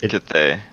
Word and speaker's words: Cthaeh: introductions first, and we'll start with, is it Cheetah? I don't know if I'm saying your name, Cheetah? Do you say it like Cheetah? It's Cthaeh.